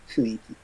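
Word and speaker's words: 雰囲気: Funiki? Really? It's read like funiki. Funiki. Like the n is pretty much near silent.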